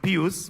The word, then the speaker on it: Pius: In Kenya, we call him Pius, but I understand it's Pius, depending on which school you went to.